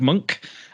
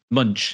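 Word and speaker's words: Moench: And we are going to be talking about Batman Prey by, I want to say, Doug Monk and Paul Gulacy. Munch, is it?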